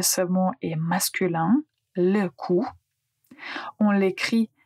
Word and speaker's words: coup: Le coup, on l'écrit c Ou P, mais on ne prononce pas le p.